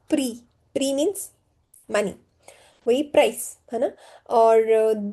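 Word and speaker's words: prix: If s x is at the end last word x last letter it is silent like pre pre means money price or the the means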